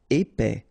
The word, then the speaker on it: épais: Épais, final S not pronounced, A-E together, épais, épais.